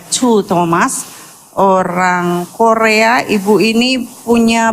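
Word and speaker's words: Choo Thomas: Kalau saudara pernah baca bukunya Cho Thomas, Ibu Cho Thomas, Chu Thomas, CHOO, Chu bacanya ya, Chu Thomas, orang Korea.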